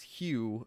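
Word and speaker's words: Huw: Oh, also, Kieran, his middle name is Hugh, spelled like your lecturer. H-U-W.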